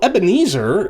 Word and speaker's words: Ebenezer: other hymns as well so ebenezer is the way that we pronounce the english transliteration but it's a transliteration of evan evan is a word meaning stone or rock and ha azer in